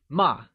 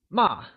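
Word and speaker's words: 骂: Note that scold translates to ma, and is pronounced using a falling tone. Can you try and say ma? It is said with a falling tone, like ma.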